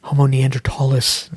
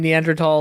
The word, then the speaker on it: Neanderthal: Not pronouncing his H's. So so I say Neanderthal, even though I have to think about that, not say Neanderthal.